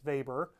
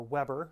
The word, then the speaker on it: Weber: a german sociologist named max weber or weber depending on your pronunciation and in that book